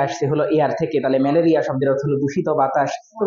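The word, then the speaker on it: malariae: তো 4 রকম জীবাণু মানে 4টা প্রজাতি আছে, প্লাজমোডিয়াম ভাইভ্যাক্স, প্লাজমোডিয়াম ম্যালেরি, উচ্চারণ ম্যালেরি আসলে, তারপর প্লাজমোডিয়াম ওভালি, প্লাজমোডিয়াম ফ্যালসিপ্যারাম।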